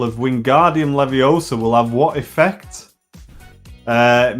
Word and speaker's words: Leviosa: Leviosa, not Leviosa.